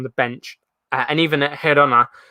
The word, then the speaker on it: Girona: I think you properly pronounce it. Everybody says Girona, but pronounce it properly. Girona.